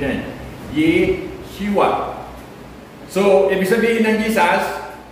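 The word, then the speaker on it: ישוע: Sa Hebrew, ang tawag niya Yeshua. Okay? Anong pronunciation yan? Yeshua.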